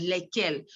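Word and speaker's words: lesquelles: which is le quel and feminine plural which is also like is pronounced as lekkel the only difference is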